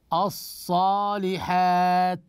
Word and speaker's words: الصالحات: هذه ما نوعها احسنتم هذه ال الشمسيه والقمريه اذا ننتقل من الالف الى الصاد لان هذه اللام لا تنطق نقول الصالحات ولاحظوا هذه الالف الصغيره